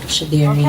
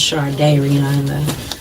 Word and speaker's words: Shardayreon: It's pronounced, it's close enough. Yes. Shardayreon. Okay, yeah, Leah Okay. can hear it. It's pronounced Shardayreon.